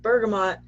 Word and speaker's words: bergamot: power essential oil like bergamot bergamo depending on what how you would like to pronounce it is really great for